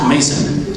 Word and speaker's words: Maison: that one Mason but it's spelled um the French house Maison but it's pronounced Mason so m-a-i-s-o-n and middle